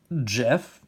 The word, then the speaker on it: Geoff: We have Jeff, the other wolf. Except he's spelled with a G, so it's, you know, the Geoff spelling of Jeff.